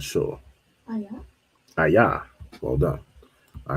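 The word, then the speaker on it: איה: Ayah is where. All right, so go back here. We have ayah, not ayan.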